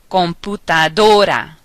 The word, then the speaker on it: computadora: If there is no accent mark, stress the vowel in the next to the last syllable when words end in N, S, or a vowel.